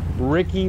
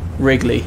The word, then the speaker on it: Wrigley: Ricky Ballsack? Wrigley, as in the chewing gum.